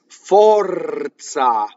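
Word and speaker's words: forza: If an R touches a consonant, it rolls. Fɔrza. This R touches the Z.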